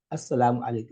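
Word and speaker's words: السلام عليكم: Now, correct pronunciation say Assalamu, Assalamu alaikum, Assalamu alaikum.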